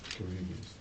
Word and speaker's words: Carrevious: How you pronounce that? Kibius. Kuribius.